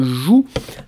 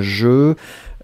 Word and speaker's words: jeu: Faites attention, Joseph, c'est pas un joue, hein, mais c'est vraiment un jeu.